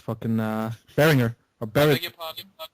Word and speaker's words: Behringer: It's fucking Behringer or Beg Behringer. your pardon. Yes, it's cheap. How do I pronounce that? Behringer or Behringer or? Beringer.